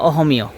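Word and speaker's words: অসমীয়া: আমরা লেখার সময় দেখা যায় অসমীয় লেখা হয়, কিন্তু ওরা উচ্চারণ করে অসমীয় বা অহমীয়।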